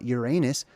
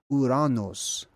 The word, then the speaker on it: Uranus: It's not Uranus, it's Uranos. That's actually how it's supposed to be pronounced.